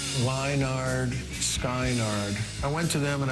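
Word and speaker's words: Lynyrd Skynyrd: The reason it was called Pronounce was because people would see the name and they didn't know how to pronounce that. With all the Y's, it didn't look like Leonard Skinner. It just looked like Leinard, Skynard.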